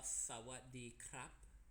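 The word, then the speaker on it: สวัสดีครับ: Sawadee krap. Sawadee ka. Yeah. Out. For guys we say krap. For girls, yeah, you say ka.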